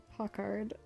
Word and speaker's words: Pochard: On to the other gossipy elder, Pochard Fur, or Pockard. The British and American pronunciations are different, and I'm going with the American pronunciation because that's generally closer to my accent as a Canadian.